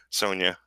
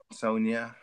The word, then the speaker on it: Sonja: know a lot of No, no, it's pronounced like a Y, like Sonia. Sonja.